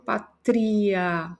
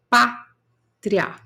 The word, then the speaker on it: pátria: Eu não falo patria, patria. Não, eu falo pátria.